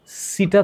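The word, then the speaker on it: setae: আর এনেলিডার রেচন অঙ্গ নেফ্রেডিয়াম এবং ওর সিটা থাকে সিটা এই সিটা মানে এই সিটা মানে সিটা বাংলা উচ্চারণ করলে সিটা হবে না হবে সিটি এটা কি করে এইযে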